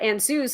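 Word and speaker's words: Ansuz: over the years but ansues is one of the ruins which also changed in pronunciation it started with a sound like ah and evolved more into an awe or o sound depending on the location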